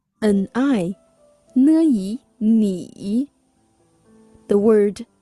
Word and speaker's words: 你: Distinguish it with 你 whose pinyin is N-I. 你 The word 您 is